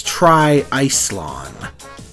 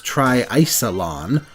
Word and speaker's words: TriIcelon: to get it out of the way that's Tri Ison the English announcers pronounce it as Tri isalon but either way an absolutely insane portmanto to